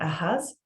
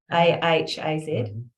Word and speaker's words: Ahaz: Ahaz, A-H-A-Z, Ahaz, and Solomon.